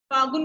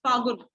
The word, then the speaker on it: फागुन: फागुन बोलना है इसको, ल साइलेंट आएगा इसमें, फागुन।